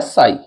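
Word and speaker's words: ψ: है यह होता है साई पी एस आई इसमें पी साइलेंट रहेगा साई हो जाएगा ठीक है उसके बाद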